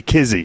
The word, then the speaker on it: Kizzy: Kizzy was as far as her routine goes, she was very not Izzy, Kizzy. That's what I said, Kizzy.